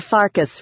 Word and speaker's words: Farkas: "And you're Farkas, rhymes with Marcus, another lame-ass vampire.